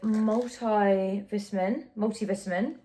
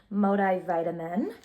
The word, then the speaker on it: multivitamin: I get the multivitamin. Why did I say it like an American? Multivitamin.